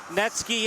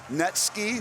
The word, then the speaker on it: Netsky: But yeah, I love that name, Netsky, for a goalie. It rhymes with Gretzky and the name Netsky, and he's a goalie.